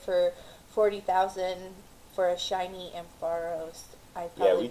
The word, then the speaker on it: Ampharos: I made a trade with someone yesterday for 40,000 for a shiny Ampharos. I probably we butchered that. So We take pics. No, Ampharos is right.